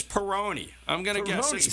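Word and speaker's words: Peyronie: that I think it's Peroni I'm GNA guess sounds like macaroni all right it's kind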